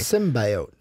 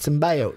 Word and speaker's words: symbiote: teach you how to pronounce it properly symbiote symbiote symbiote symbiote sim bio symbiote I just I hate it just in bio it just sounds so weird like sim bio it's